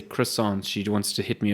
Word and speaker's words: croissant: So it's croissant. Croissant. It's not croissant. So the way to say it is you have to break your nose. Yeah. Break your nose, hold it in a weird way.